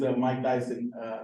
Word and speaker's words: Myk Dyson: Yeah, Okay, my name is Mike Dyson, not Tyson.